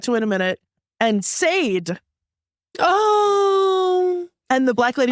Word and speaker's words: Sade: it's Sade.